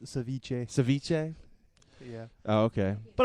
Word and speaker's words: ceviche: It's pronounced ceviche.